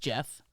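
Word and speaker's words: Geoff: You know, you always want to say it like Gios, but it's just Jeff.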